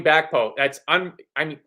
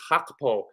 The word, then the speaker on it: Gakpo: In Dutch, the pronunciation is Gakpo. And if we sign him, Gravenberch. My in-laws are all Dutch, and I asked my mother-in-law once we signed Cody Gakpo how to pronounce it,